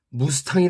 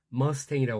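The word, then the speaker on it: Mustang: 이름이 무스탕이란 전체도 있습니다 오나미는 무스탕이랑 발음을 하지 않겠죠 당연히 한국 사람이 하는 발음을 절대하지 않을 겁니다 한번 들어 보시기 바랍니다 mus mus 머스탱이 합니다 머스탱 머스탱 그래 우리 한국 사람들은 무스탕 그렇게 하는데요 미국 원인들은 네이티브 인들은 머스탱이라고 합니다 제 2차 세계대전때 무스탕이라는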